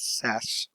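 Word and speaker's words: SaaS: in yes we have software a service which we pronounce as SAS so what is is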